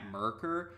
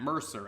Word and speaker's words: Mercer: under the impression that his name was Matt Mercker but lately I've been hearing some videos referring